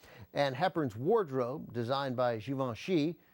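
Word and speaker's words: Givenchy: And Heepern's wardrobe designed by Giovenon Xi, which I've just been told how to pronounce and now I'm saying it that way for the first time in my life, set a timeless standard in fashion that is still followed today.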